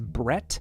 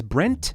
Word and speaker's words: Brent: Now, during this interview, his name was mispronounced a few times as Brett, but his name is Brent Cooper, and he is the